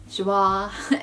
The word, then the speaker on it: Joie: This is also a 100% silk piece by Joie, which looks like Joey, but it's not pronounced Joey, it's pronounced Joie.